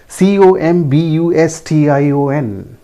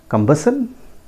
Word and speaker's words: combustion: Next word again COMBUSTION. हाउ डू you pronounce? combustion? Yes, but that is not the correct pronunciation. It is pronounced as combustion.